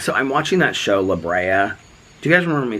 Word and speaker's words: La Brea: fall into this sinkhole one it's and it's pronounced la brea i know that now after watching five episodes